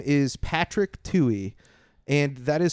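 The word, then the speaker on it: Tuohey: So the first guy who spoke uh his name is Patrick Tui and that is spelled uh t u o h e y.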